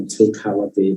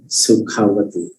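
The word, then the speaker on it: Sukhāvatī: But this is the Myanmar pronunciation, the Sukhavati. But according to the Pali, it should be Sukhavati.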